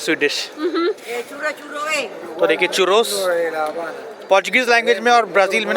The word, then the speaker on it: churros: So, this is Churoz, In Portugal and Brazil, it is pronounced as Chuhoz as they pronounced R as H.